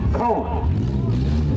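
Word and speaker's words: Kaun: I think it's pronounced Cone. Cone. Oh, Cone.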